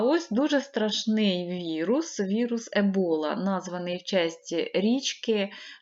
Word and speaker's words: Ебола: дуже страшний вірус вірус Ебола названий області річки в Африці І наголос Саме так ставиться річка зветься не е була а ебола і він спричиняє дуже рідкісне